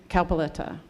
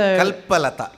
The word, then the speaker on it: Kalpalata: So what I did yesterday is I gave these questions, 25 general knowledge questions, to Kalpaletta. Kalpaletta. I always mispronounce her name. So Kalpalata means Kalpaletta. Kalpalata. Like a kalpataru, Kalpalata.